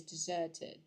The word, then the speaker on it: desert: the entire road is deserted from the word um desert okay this is very close to Desert and not dessert as in the sweet sweet food okay now um this